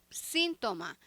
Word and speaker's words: síntoma: Síntoma. Em português, sintoma. A sílaba tônica é a penúltima sílaba, toma, né? Sintoma. Academia.